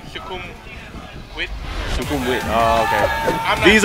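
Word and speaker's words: Sukhumvit: No, nah, it's like a, it's more pronounced with a W. So it's like Shukum Wit.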